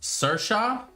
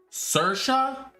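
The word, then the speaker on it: Saoirse: don't know all right so it's pronounced sirsha are you kidding me kalyan oh my god sercia that's how you pronounce that oh my gosh thank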